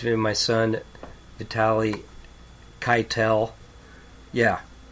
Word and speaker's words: Keitel: of my son, Vitaly Keitel. Yeah. We pronounce it like Harvey, our uncle, the actor, gives us street credit.